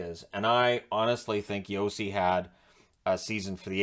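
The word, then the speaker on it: Josi: them are listed alphabetically except the lindsay where yossi should be first i understand it's pronounced yossi is in a y but it's still first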